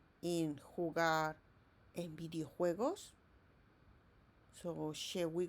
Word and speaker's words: jugar: So we have here me gusta jugar a los videojuegos. Remember this J, it sounds like H in English.